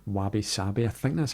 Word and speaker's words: wabi-sabi: There's a concept in Japanese culture called wabi-sabi, I think that's how you pronounce it, and it celebrates imperfection and impermanence,